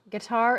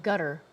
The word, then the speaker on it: Qatar: And when I say Qatar, I feel like saying guitar. It's a guitar base. Wow. There's actually a lot of people who pronounce it guitar and gutter.